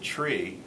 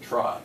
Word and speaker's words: trie: but it pronounced it tree and it's really the middle part of the word retrieval but in order to not um confuse it with a general tree we'll call it a try which a lot of